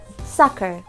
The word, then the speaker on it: soccer: في كلمات فيها exceptions ومش بتمشي على القواعد دي، زي كلمة soccer soccer. كلمة soccer هنا في حرف ال C بعديه حرف ال E بس بتنطق ك مش بتنطق س.